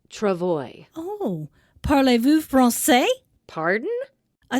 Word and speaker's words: travois: I'm Kelly and I'm candy what is a tervois it is pronounced Travoy oh parlez-vous Francais pardon I thought you spoke